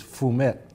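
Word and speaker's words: fumet: I think the correct pronunciation, not that I speak French, I is fum and but it's spelled f u m t.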